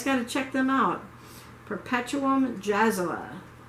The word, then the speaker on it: Perpetuum Jazzile: Perpetuum Jazzala. It's spelled like Perpetuum Jazzile.